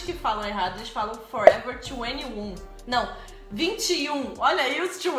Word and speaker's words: Forever 21: But it should be Forever 21. 21. Yeah. Ainda eu compro coisas nessa loja e eu me sinto um pouquinho... triste, porque eu não sou 21. Mas eu vou! Forever 21.